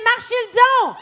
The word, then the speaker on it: Marchildon: Bonne prononciation mon nom de famille, j'apprécie. Marchild pas facile hein.